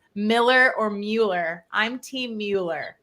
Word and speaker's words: Mueller: I had a builder say that it's pronounced Miller. I swear I've heard that before, but everyone says Mueller. It irks me because I hear it too all the time. It's like Miller?